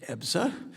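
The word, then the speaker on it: EBSA: In July, the subcommittee held a hearing examining the Department of Labor's Employee Benefit Security Administration, known as EPSA, pronounced EPSA, which is vital agency that protects workers hard-earned health and retirement benefits.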